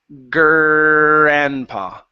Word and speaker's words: grandpa: So, watch out for that gr. Most of your Rs sound really good when you're pronouncing them, but when it's following a consonant like a B or a G or a P, that's when it's going to come out like P or B or G. Okay? Because it's easier to say that than to pronounce an R.